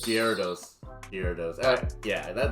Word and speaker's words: Gyarados: g um i want to say it wrong giardos gyarados here it is yeah that no that's cool